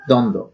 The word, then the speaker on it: দ্বন্দ্ব: এখানে আমরা যদি দ্বন্দ্ব শব্দটি দেখি তাহলে এখানে বফলা উচ্চারিত হচ্ছে না, শব্দের শুরুতে বফলা থাকার